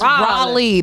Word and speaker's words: Raleigh: And Raleigh, I always say it wrong. It's Raleigh. The people of Raleigh are going to be so offended. She kept calling it Riley.